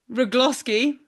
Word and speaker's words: Rugloski: Today we are joined by HYROX Elite 15 athlete Kris Rugloski. Gloss that rhymes with lip gloss.